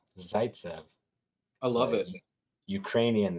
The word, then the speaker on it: Zaytsev: you say your last name sure it's zaitsev zaitsev i love it ukrainian name ukrainian jewish yeah